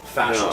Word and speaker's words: fascial: Not facial fascial stress.